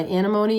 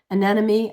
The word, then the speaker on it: anemone: I haven't started my my ranunculus or my anemone yet. Anemone. I always say it wrong. It's anemone. I don't know why I call it anemone, but uh it's anemone anemone anemone.